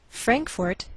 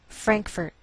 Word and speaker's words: Frankfort: Frankfort, Kentucky. Now some Americans may change the second syllable of the capital, and you may hear Frankfurt.